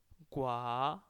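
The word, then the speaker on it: 国: With the second tone it becomes a country.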